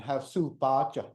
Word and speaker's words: Havasupai: Since the Hualapai, which is Hualapai, people of the tall ponderosa pines, and Havasupai, people of the blue-green water, is the accurate pronunciations and translations for the tribal names.